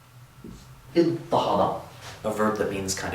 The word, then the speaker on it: اضطهد: After that dad, we're going to change the ta of the pattern to a ta to get iddahada, a verb that means kind of oppress.